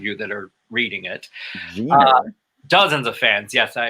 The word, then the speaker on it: Jenner: Excuse me for pronouncing the G like a J for those of you that are reading it. Jenner.